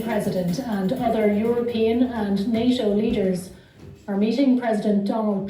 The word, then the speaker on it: NATO: How do you pronounce it? No. NATO.